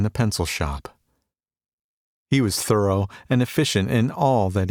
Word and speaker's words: Thoreau: they called him lazy thoreau he pronounced it thorough however was not wasting